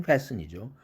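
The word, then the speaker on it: fasten: 단어 글리스튼, 또 패스튼, 글리스튼이 아니라 글리슨, 패슨이죠. 소프튼이 아니라 소픈, 헤이스튼이 아니라 헤이슨, 자음 철자가 그 은 앞에 있는 이라는 철자는 무조건 여기서 발음 탈락입니다. silent letter입니다.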